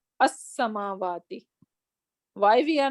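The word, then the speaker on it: السماوات: starting with Shamsi letters, then we are not going to pronounce this lam. Rather, we're gonna say as-samawati. So it is going to take a kind of shadda over here, because we are not pronouncing this lam. We are not saying al-samawati, rather we are saying as-samawati.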